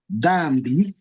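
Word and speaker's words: dhambi: Dambi will be pronounced as D-H-M-B-I, dambi. And this means sin. So it do not come out as dambi. It combines a D and H together.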